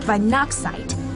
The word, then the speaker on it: Weihnachtszeit: It's actually pronounced Weihnachtszeit, and it means Christmas time in German.